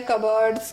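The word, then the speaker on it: cupboard: यहां पे आर है लेकिन पी तो दोनों ब्रिटिश और अमेरिका दोनों में ही गायब है 20 साइलेंट है कब बर्ड कब बर्ड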